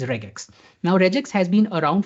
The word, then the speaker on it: regex: So I will be using reax but if you have to be pron uh be correct in the pronunciation the right term is regax.